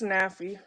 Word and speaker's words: Nafi: Is Nafi? Is that how I pronounce it? Yes, it's Nafi.